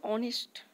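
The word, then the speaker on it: honest: এইচ ও ইউ আর যদিও এগুলো এইচ দিয়ে শুরু হচ্ছে এর সাইলেন্ট থাকে উচ্চারণের সময় তোগুলো আমরা অনেস্ট আও এভাবে প্রোনাউনশন করি এগুলোকে আমরা আডার করি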